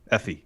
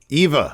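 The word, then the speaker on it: Effy: that's really good oh yeah uh valkyrie i pronounced her first name again effie effie yes thank you eva uh eva no it wasn't eva effie ether ifa valkyrie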